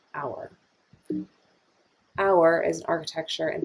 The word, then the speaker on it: AUAR: of automated architecture which we shortened to auar and pronounced as our our is an architecture